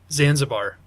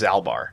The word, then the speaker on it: Zalbar: Zanzibar. That is actually fairly close. I know it's wrong. The correct answer is Zalbar. Zalbar. Oh. I had two now syllables. It sounds familiar.